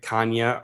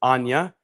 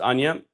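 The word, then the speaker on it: Chania: So you think it's like Kanya or Chanya, but it's Ana, pronounced Ana.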